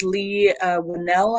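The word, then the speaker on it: Leigh Whannell: His name is Lee Winnell, I think is how you would pronounce his name.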